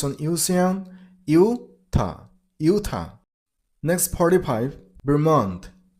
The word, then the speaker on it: Vermont: Vermont. Vermont. And remember, while you pronounce the second syllable, you should make a t sound at the end of the word.